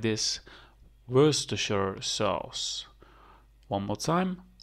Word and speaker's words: Worcestershire sauce: sauce one more time Worcestershire sauce so you don't say the RS mainly you say Worcestershire sauce yes so we cut it in pieces you say were stir share sauce were structure sauce yes